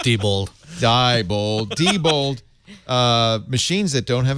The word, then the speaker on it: Diebold: Wow label us and told us how to pronounce it I think it's people Diebold Diebold machines that don't have a paper trail